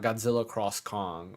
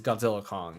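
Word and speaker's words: Godzilla x Kong: and King Kong it's Godzilla Kong like literally that's what the X means uh or Kong Godzilla whatever it is yeah you don't pronounce X at all oh yeah Hunter Hunter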